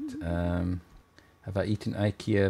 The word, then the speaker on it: IKEA: um have i eaten ikea meatballs or ikea as it's supposed to be pronounced apparently um i don't like